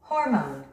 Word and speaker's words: hormone: 스트레스가 맨 앞에 있습니다. 우리 한국인들은 이 단어를 호르몬이라고 합니다. 원어민들은 이렇게 발음합니다. Hormone.